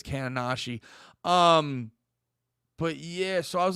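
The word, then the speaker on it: Kaonashi: I was saying Kanoshi for a while, but I think it's Kananashi.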